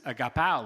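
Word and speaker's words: ἀγαπάω: Well, this is agapao love. It's pronounced slightly different. This is the verb version of love. So the people hearing this would have known that, oh, he said agapao, not agape. There is a difference.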